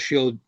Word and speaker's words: Chell: okay, I think the C is silent.